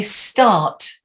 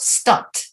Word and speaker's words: start: you changed it okay don't forget your your t sound it's not a d is it said is it that's it to say start start that's it good start yeah so a lot of words with a are uh like start they're not stuck they are start die